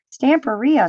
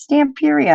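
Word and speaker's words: Stamperia: and you kept saying stand for Rio stay imperious Tampa Rihanna I was laughing I'm like they're not saying it right it's Stamp area and then when I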